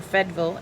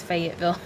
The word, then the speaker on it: Fayetteville: small town in Tennessee called Fayetteville, or Fedville as the locals call it. I am not a native to there, so I pronounce all the letters. It's Fayetteville.